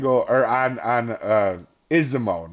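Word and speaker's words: Izumo: or on on uh isimo not isuma I've been pronouncing it wrong the whole time that's kind of what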